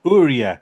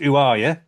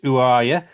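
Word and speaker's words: Orya: artist's name, I had no idea how to pronounce it. Uh it was Ura, but I gather that's wrong. It's actually pronounced UA accent.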